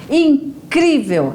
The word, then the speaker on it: incrível: classificada como paroxítona então na palavra incrível é a nós pronunciamos aí com mais força com mais intensidade o crie incrível né então o sol mais forte está na penúltima sílaba E se for aí